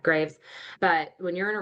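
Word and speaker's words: Greaves: I've read both Emotional Intelligence and Emotional Intelligence 2.0 with Travis Bradberry, and I think it's Gene Graves is how you say that, Graves.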